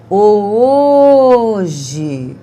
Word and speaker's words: hoje: Hoje. Qual foi a sílaba que eu fiquei mais tempo pronunciando? O O. Por isso, essa é a sílaba forte.